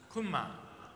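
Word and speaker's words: Gunma: Kunma.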